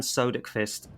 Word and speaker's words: Söderqvist: Um, it's I know it's a bit hard with the O with the dots.